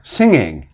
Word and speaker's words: singing: end of the word so if we add more onto it the G is still not pronounced so singer singing any of those do not pronounce the G sound let's go back to